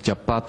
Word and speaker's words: chapat: Normalmente se lee la palabra 100 pies, se lee chapat, como tú decías, ¿verdad?